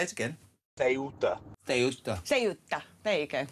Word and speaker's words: Ceuta: Ceuta. What? Say it again. Ceuta.